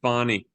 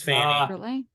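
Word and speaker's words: Fani: say anything about no they're pronouncing it fonny it's Fanny it's Fanny in Baltimore we say Fanny so um Judge Scott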